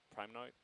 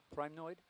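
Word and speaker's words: primnoid: you say it Prime primoid primoid yeah okay p r i m n o d okay n o I like choid only with with a p that's right okay okay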